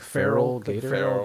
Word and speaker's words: Feraligatr: what is that from I think it's like feral Gator Gator at all like it